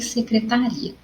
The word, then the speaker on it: secretaria: em outro local então o que você percebeu em relação a pronúncia das palavras destacadas nas duas partes vidas bom as duas palavras destacadas são secretária e secretaria a secretária nós conseguimos receber pela sonoridade e o tá ele soa mais forte mas se tu